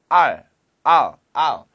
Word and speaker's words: I'll: 얼, 물개 소리잖아요. 얼. 그렇게 하지 마시고. I'll 좀 더 빨리 하면 I'll. 이게 아 하고 L 발음.